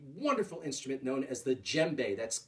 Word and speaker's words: djembe: this is a wonderful instrument known as the djembe that's spelled d j e mb e djembe this